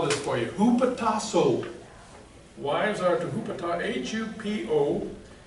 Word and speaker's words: hupotasso: Now wives are to, I have to spell this for you, hupotasso.